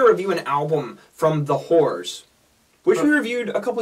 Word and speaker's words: The Horrors: And not to be confused with The Horse. No, or Whores. No, we don't want to go that far. The Horrors.